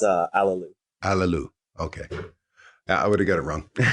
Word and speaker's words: Allooloo: came on how do we how do you pronounce your last name it's uh a lelou allelú new gate or um so tell us